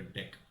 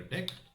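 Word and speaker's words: deque: import deck so it's spelled dq but it's pronounced deck so what i'm going to do is simply create a deck and of course even there we need to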